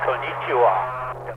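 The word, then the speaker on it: こんにちは: It's pronounced Konnichiwa, WB6WYS.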